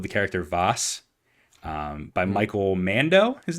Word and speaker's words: Mando: This almost certainly stems from the portrayal of the character Voss by Michael Mando, his name is, correct? The actor? Yeah. I think it's pronounced Mandau.